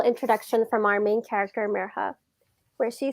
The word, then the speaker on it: Mirha: They stretched out the I until it sounded like an E, and their R sounded wrong. Some people even forgot the H.